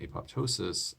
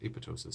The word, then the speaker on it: apoptosis: Now, in terms of causing DNA damage and apoptosis, or apoptosis, depending on how you like to pronounce it.